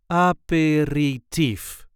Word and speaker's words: aperitief: This is the way we say apperative apperifer. There is a light emphasis on the last syllable.